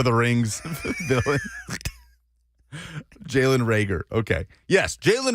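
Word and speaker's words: Reagor: Thrones character Lord of the Rings villain Jaylen rager okay yes Jaylen rager and Kyle Dugger seems to be the makeup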